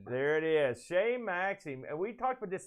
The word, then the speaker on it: Chez Maxime: once again please save me what is it shay maxine there it is shane maxim and we talked about this this way we